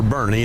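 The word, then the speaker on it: Boerne: They always say born. We tell people weekend at Bernie's or Bernie. That's how you pronounce it.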